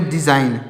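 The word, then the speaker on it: design: इसमें जी साइलेंट है डी ई एस आई जी एन तो इसको पढ़ेंगे डिजाइन क्या पढ़ेंगे डिजाइन अब डिजाइन तो इसमें भी जी साइलेंट है सी ओ एम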